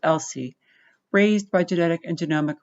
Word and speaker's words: ELSI: legal and social implications abbreviated as e l SI and pronounced LC raised by genetic and